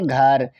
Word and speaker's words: घर: से हम पढ़ेंगे घर, GHAR, हुआ घर। GH से घौ, क्या? घौ। ए साइलेंट रहेगा, आर का मतलब रा, तो इस प्रकार से हमने लिख दिया घर।